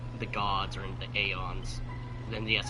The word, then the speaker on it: Aeons: As far as I remember, in terms of how the gods are in the Aeons. And yes, I'm pronouncing Aeons instead of Eons.